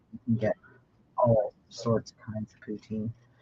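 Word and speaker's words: poutine: all sorts kinds of poutin oh good I pronounced it right then yeah oh that's a relief actually like like the Russian leader yeah we're talking about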